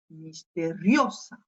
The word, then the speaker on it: misteriosa: J'ai appuyé sur cette syllabe, hein, et plus précisément sur le O, misteriosa.